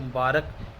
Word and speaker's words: مبارک: تو یہ مبارک لفظ ہے, بولنے میں عام طور پر ہمیں بھی یہ عجیب سا لگتا ہے کہ مبارک غلط ہوگا, لیکن یہ مبارک جو ہے یہ صحیح اس کا تلفظ ہے.